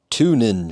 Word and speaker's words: Tunenge: So, this is a light from Tuning, I believe is seems like that's how you say it.